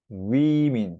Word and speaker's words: women: A가 E로 바뀌는 건데 발음이 좀 달라져요. woman, women 이렇게 읽어요.